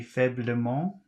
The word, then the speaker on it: faiblement: Here you have to pronounce the E, because if you don't, it will create a situation where three consonants come up against each other.